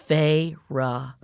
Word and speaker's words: Feyre: She drew out the two syllables of my name. Here it is, y'all. Feyre.